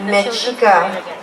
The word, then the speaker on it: Mexica: And actually I thought it was pronounced a certain way, but no, it's pronounced Música Mexica Performance.